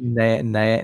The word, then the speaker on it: Nanaimo: How do you pronounce that? Go back. all right, Go back. I'm The going back. Nanaimo. Nanaimo.